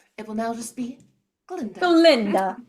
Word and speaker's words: Glinda: first act happens, and she changes it to Glinda after Dr. Dillamond is silenced because now the Ga is silent.